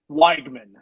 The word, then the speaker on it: Wegman: you do Hunter Wegman Wagman is how you say much worse than weakness no the the E and I and what I can only assume is German or check or whatever um yeah you say it like a y right there so I learned he sounds